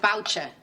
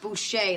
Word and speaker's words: Boucher: And Professor Boucher, looks like Boucher, but it's pronounced Boucher, like the French say.